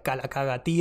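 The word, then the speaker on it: καλοκαγαθία: es este concepto que en griego se pronuncia calaca gatti ahí me enseñó marca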